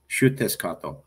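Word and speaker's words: Xiuhtezcatl: So his name is pronounced Huatzcatl.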